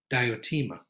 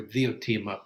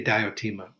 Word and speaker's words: Diotima: a woman from montanea her name was diotima and or theotema probably was the greek pronunciation the d sometimes has a th sound in greek but we say diotima and she was a